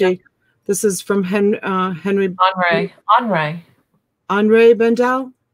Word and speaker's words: Henri Bendel: Henri Bendel? Yeah, that's how you pronounce it.